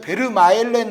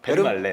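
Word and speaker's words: Vermaelen: 왜냐하면 그게 그러니까 예전에 베르마엘렌 선수라고 그랬잖아요. 근데 그거 틀린 거예요. 베르말렌. 베르말렌이 맞거든요. 네.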